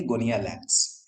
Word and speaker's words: Gonyaulax: GONYAULAX, pronunciation क्या करेंगे, गोनियालैक्स, इसको हम लोग बोलते हैं गोनियालैक्स, ठीक है ना।